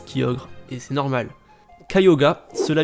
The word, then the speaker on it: Kyogre: ces pokémon tiago se prononcent chez les japonais cayuga non le prononce kyogre est ce normal cayuga cela vient de caillots